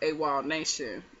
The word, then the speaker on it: Awolnation: sing it it's called Awolnation and wall it's not spelled like w-a-l-l it's spelled like a-w-o-l nation and the song is